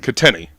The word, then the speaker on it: Katini: your last name connery uh it's italian katini okay got connery kitteni and you guys know